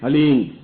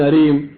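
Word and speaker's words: ह्लीं: वो बोले ओम हलीम, बस ये हलीम शब्द बहुत ध्यान से उच्चारण करने देना। HALEEM हलीम। कोई बोले हरीम, कोई बोले हीम, तो कुछ फायदा नहीं होगा।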